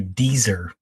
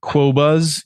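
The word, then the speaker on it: Qobuz: properly yet, but it's called Here, I'll pronounce it for you. Dieser. No, it's not Dieser. No, it's Quobas.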